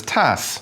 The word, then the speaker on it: tasse: The French word for cup is tasse.